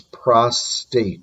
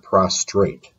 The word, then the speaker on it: prostate: Prostate gland. Please note it's prostate, not prostrate.